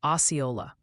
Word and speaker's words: Osceola: Also, Ryan, the chat jury has spoken, and it seems Osceola is pronounced Osceola.